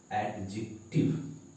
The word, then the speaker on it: adjective: फिर एड, फिर जिक, टिव। ध्यान देंगे, एडजेक्टिव। तो ये इसका प्रॉपर प्रोनाउंसिएशन है, एडजेक्टिव।